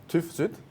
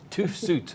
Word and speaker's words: TÜV SÜD: So TÜV SÜD. TÜV SÜD.